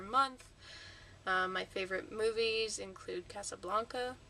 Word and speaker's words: Casablanca: My favorite movies include Casablanca, or Casablanca, if you know, I've heard it pronounced both ways, but in the movie it's Casablanca.